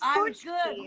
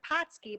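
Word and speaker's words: pączki: It's punchki. That's how you said it. You said it right. It's punchki. Pushki. Okay. Yeah. Doesn't look like at all the word because it's spelled P-A-C with a little funky little letter under there. Z-K-I. So it looks like Patski, but it's really punchki.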